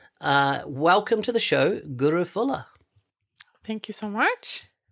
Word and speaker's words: Guro: start barn among but i would pronounce my name as guru i've even had a